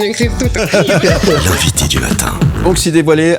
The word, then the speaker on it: Banksy: Je prononce bien Banksy, c'est juste? Banksy, c'est juste, absolument.